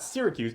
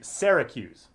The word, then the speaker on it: Syracuse: going to study at, not Syracuse, Syracuse. Syracuse? Syracuse. That's how they say it in upstate New York.